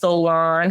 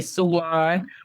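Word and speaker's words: Soulaan: o u l a a n and it's pronounced Solan some people say San but I think that's the fun part we're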